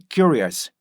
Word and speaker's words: curious: 그래서 여러분들이 Q로 가시면 안 돼요. 절대 Q로 가시면 안 되고요. 어떻게 가요? 큐, 큐 이렇게요. 요 큐스로 가셔야 돼요. 큐 이렇게 해볼까요? 입을 앞으로 빼면서 큐, 큐, 큐 이렇게요. 그래서 어떻게 돼요? curious, curious 이렇게 해서 어떻게 돼요? curious, curious, curious 이렇게 하셔야지 문장에서 들어갈 때도 어떤 타이밍에